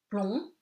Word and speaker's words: plomb: Plomb, you don't pronounce the B, le B is silent.